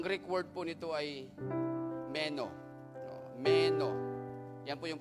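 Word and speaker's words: μένω: Alam nyo, yung keep going or continue, ang Greek word po nito ay meno. Meno. Yan po yung pronunciation niya.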